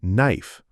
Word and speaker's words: knife: Don't say the K in knife.